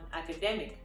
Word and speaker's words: academic: not the correct stress the stress should be on the e in this case just like in pandemic similarly it should be on academic the e so this